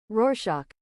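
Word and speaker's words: Rorschach: How do you say this word? pronunciation. Roarshock. Roar shark. Okay.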